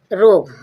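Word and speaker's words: rogue: Next देखोगे रोग। रोग रोग मींस रोग। रोग मींस शैतान। आर ओ जी यू ई जी के बाद यू आया। यू साइलेंट है।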